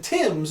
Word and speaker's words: Thames: So if you want people to call it the Thames, then spell it Thames. If you want people to call it the Tems or the Thames, you could do Tims or Tems.